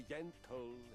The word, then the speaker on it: gentle: I have come to feel that with violence done together, can also come the gentle and rewarding sensation of... I love the fact that G's are pronounced as J's. Gentle and rewarding session of love.